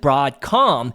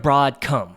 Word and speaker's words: Broadcom: in the effort to try to pronounce it broadcom instead of broad come well anyways broadcom ticker